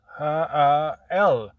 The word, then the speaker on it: HI-L: It's pronounced HYL. HYL. HYL.